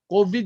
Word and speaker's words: COVID: So, ayaw mo pag-ingon og Kobe ha. COVID yun na siya nagyo dili Kobe. Kay Kobe si Kobe Bryant, patay naman na siya, no? So, when you say COVID-19, say it rightly, no? It's not a Kobe.